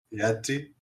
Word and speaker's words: Thiazi: La Z en este caso, y si seguimos el nórdico antiguo o el islandés antiguo, se pronunciaría como una D o una T, como queráis considerarlo, seguida de una S, o sea, Thiazi. Thiazi.